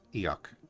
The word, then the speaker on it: Fhiach: Which would actually be pronounced Eoch.